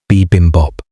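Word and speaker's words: bibimbap: I looked up how to pronounce it. Bimbop.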